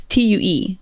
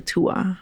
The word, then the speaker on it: Tue: It's T-U-E. Tue, tue, tue. Ooh, that's a little too close to Tua. Not Tua. Tue, it's Tua in Spanish.